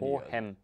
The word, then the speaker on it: Hohem: Hohem schreibt man H-O-H-E-M. Und dann genau. iSteady. Hohem.